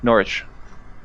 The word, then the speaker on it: Norwich: get a second opinion right not rich Norwich did not pronounce the W Norwich Norton glioma all